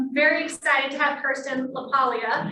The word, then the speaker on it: LaPaglia: Very excited to have Kirsten LaPaglia. Did I say it right? Yep. Forget the G.